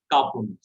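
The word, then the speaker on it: כ: Actually, with Dagesh, it is clear K, and without Dagesh, it is like It is H.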